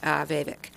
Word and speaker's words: Vivek: So that we all pronounce his name correctly, I'm going to have him say it. Vivek.